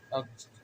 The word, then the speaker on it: अक्ष: जैसे मान लीजिए कि हम लोग पढ़ते हैं, इसको क्या पढ़ते हैं, अक्ष। अक्ष ये मध्य में है तो क का उच्चारण होगा।